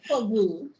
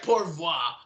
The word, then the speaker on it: Pour Vous: French game up because I pronounced the album name wrong when I introduced it. For Vous. Yeah, sorry. I was like, pour voir. Like, damn. So my French game is on all-time low.